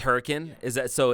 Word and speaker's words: Hurricane: Is that like in Utah when you drive through a city that is literally named Hurricane, but it's not Hurricane, it's Hurricane?